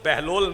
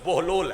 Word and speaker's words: بہلول: اچھا یہ تلفظ میں بچوں کا ٹھیک کروا دوں, یہ تلفظ بہلول نہیں, یہ تلفظ بہلول ہے.